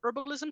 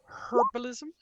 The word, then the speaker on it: herbalism: ask about the pronunciation herbalism her I have like a friend from England who like really hates it when you don't pronounce the h in herbs um and uh beyond